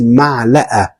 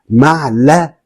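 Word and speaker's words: معلقة: Spoon is ma'la'a. Ma'la'a. So we have the A and we have the A. So I will spell it M-A-3, which is ma, and then L-A, la, and then A-H, ma'la'a.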